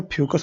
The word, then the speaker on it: Fucus: दिया है फोकस, और यहाँ पर फोकस नहीं फ्यूकस होना चाहिए, तो स्पेलिंग गलत है, यहाँ पर होगा आपका फ्यूकस, FUCUS।